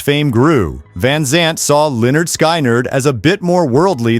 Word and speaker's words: Lynyrd Skynyrd: Soon after signing their record deal, Lynyrd Skynyrd released their debut album, pronounced Lynyrd Skynyrd, packed with now iconic tracks like Gimme 3 Steps, Simple Man, and their defining anthem, Free Bird.